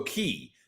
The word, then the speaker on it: Cay: Uh Ben, why do some people call Coco Cay Coco Key? Because Key is the proper Bohemian pronunciation.